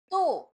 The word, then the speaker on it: two: So, next number is we have number 2. So, it write like this. Letter T, W, O. 2. T, W, O. So, it pronounced like a silent W, like 2.